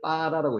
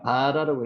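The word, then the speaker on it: בָּרָא: 창조하시니라를 빠라라고 읽었습니다. 아까 경강점 배웠죠? 경강점 여기 점이 찍혀 있으니까 바라라고 읽는 것보다 실제는 발음이 빠라라고 읽는 게 제일 정확하다 이렇게 말씀을 드렸습니다.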